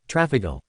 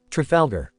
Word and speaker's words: Trafalgar: Trafalgar T R A Falgar. It's<unk> not hard to say, Strafoda.